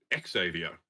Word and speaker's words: Xavier: Xavier College whereas I I think everyone in America pronounces it Exavier including Stan Lee we should defer to